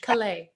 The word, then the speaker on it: Calais: how good could raymond calais be or kalei i keep saying it wrong we gotta go with the french he's the french kalei it sounds so much cooler i think he um